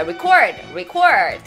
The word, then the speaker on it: record: 보통 레가 아니라 이렇게 리로 발음하는데 덕후 잘했고 멜론 주스님 잘했어요. 잘했어요. Record.